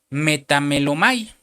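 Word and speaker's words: μεταμέλομαι: griega 33-38 de la concordancia Strong, que se pronuncia metamelomai, que es remordimiento.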